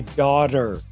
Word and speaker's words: daughter: First is that with daughter, although it's spelt with a T here, a T sound, we actually, in American English, we flap that T. Arr, I say daughter.